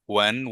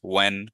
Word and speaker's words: when: So for these five words, who, what, when, where, why, generally stress the W pronunciation more than the H. The H is generally silent. So yeah, so next time just who, what, when, where, why, you don't